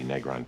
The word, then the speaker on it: Negron: And it's pronounced Negron, rhymes with Katan, which the Negron pick under slavery to the Caucasans.